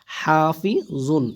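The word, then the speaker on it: حافظ: জ দুই পেশ জুন হাফি জুন এখানে কি হবে ওয়াকফের কারণে জর দুইটা পেশ সাকিন হয়ে যাবে ঠিক আছে উচ্চারণ হবে কি হাফিজ হাফিজ ইন কুল্লু নাফসিল্লাম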